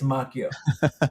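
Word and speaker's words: Macchio: I think I was pronouncing it macho. It's Mchio, correct? Mchio. Yeah, the the karate kid pronounces it macho. Same name, but uh Ralph, I'm sorry. It's Makio.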